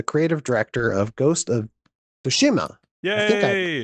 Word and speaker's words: Tsushima: nate fox the creative director of ghost of fushima yay pronounce that you nailed it ben that did